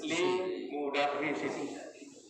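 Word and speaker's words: لِمُدَرِّسٍ: Kalau dimasuki lam yang berarti baginya atau untuknya, bacanya seperti ini. Lam, li. Lam itu li. Ada i. Istilahnya itu lam. Li. Maka ini berubah menjadi li mudarrisin.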